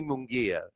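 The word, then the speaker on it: Munguía: And I Yeah, kept calling him Mungaya.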